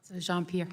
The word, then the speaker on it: Jean-Pierre: Am I pronouncing this correctly? Is it Jean-Pierre, Mr. Jean-Pierre? Jean-Pierre, yes.